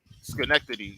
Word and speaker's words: Schenectady: Schenectady. Did I say it right? Schenectady. Oh, Schenectady, yeah.